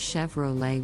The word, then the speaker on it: Chevrolet: Volkswagen let's talk about Chevrolet an American brand the correct pronunciation is Chevrolet with the emphasis on the second syllable many people mispronounce it is Chevrolet now let's look at